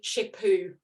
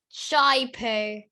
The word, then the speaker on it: Chipoo: I would go for a Chipoo. Oh, So close. Tell me. Shai-Poo. That's just a matter of pronunciation.